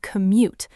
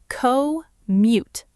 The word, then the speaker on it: commute: We use the word commute. Let's break that word down into syllables because it can be hard to say. Co-mute. Commute. Co-mute. Commute.